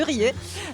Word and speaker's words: Riez: lieu donc Saint-Hilière de Razè est très marqué par la par désolé, j'ai prononcé le Z. Je sais que ça se prononce pas. Non, ça se prononce pas. de RER euh et c'est quand